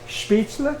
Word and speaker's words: Spätzle: usually pronounced incorrectly is spätzle. People say spätzle. Spätzle. They say spätzle, and it drives me So bad. say it the correct way. Spätzle. Spätzle? Spätzle. Spätzle. It's L-E, not E-L. Spätzle. Spätzle.